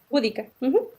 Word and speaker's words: Boudica: ¿Lo pronuncié bien, Eva? Búdica, sí.